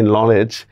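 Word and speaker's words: knowledge: মানে নলেজ কনলেজ। দেখেন কে এবং ডি এগুলা কিন্তু উচ্চারণ হচ্ছে না। অথচ উচ্চারণ করতেছি কিন্তু আমি নলেজ।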